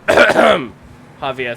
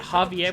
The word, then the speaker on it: Javier: Yeah, Javier with an H, except not with an H, but pronounced with an H, because languages.